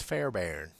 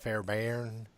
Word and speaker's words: Fairbairn: was produced by Bruce Fairbairn. I guess that's how you pronounce it. Fairbairn. B-A-I-R-N. Fairbairn, isn't it? There's really? an R in there, yes. Yeah, that threw me off for years.